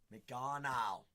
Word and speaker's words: McGonagle: McGonagle. It's McGonagle. McGonagle. That's what I've been told downwards. I've been told by multiple people I'm like one of the only individuals that is pronouncing it correct.